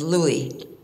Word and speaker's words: Louis: my grandfather sing him as Louie which is of course the French pronunciation of Louis my father who very